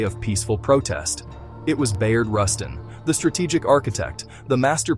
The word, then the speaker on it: Bayard Rustin: Bayard Rustin. When you picture the 1963 Excuse Mr. AI, he didn't quite pronounce it right. His name was Bayard Rustin.